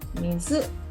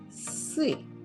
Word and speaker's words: 水: Kunyomi, mizu. Onyomi, sui. Sui.